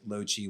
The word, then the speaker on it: Loci: It's also just a name that nobody pronounces properly. It's Loci, Loci, Loci.